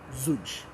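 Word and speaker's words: Zoudj: So Zuj is spelled Z-O-U-D-J. Zuj.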